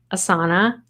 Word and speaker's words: Asana: an app that's supposed to keep me organized asana yes it's pronounced that way sadly so now I have